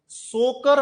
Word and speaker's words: Tso: तो हमें क्या करना है, सोकर वेटलैंड की लोकेशन को आइडेंटिफाई करना है। तो अब हम क्या कर सकते हैं, जैसे तिब्बत में लेक को बोलते हैं सो, TSO, टी साइलेंट है।